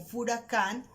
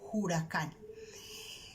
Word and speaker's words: huracán: Por ejemplo, la palabra huracán, que nosotros la usamos con H, la escribimos con H, se pronuncia en algunas partes como furacán o también huracán.